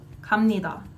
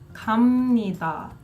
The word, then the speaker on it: 갑니다: a 비읍 there, but why does it sound like you're saying 미음, 갑니다? That's not a 비읍 sound. And you're right. This is a Korean pronunciation rule. That 비읍, combined with the 니은 after it, the 비읍 and the 니다 after, combine to make a 미음 sound.